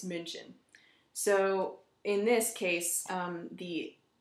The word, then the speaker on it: München: For example, we know it as Munich, and in German it's München.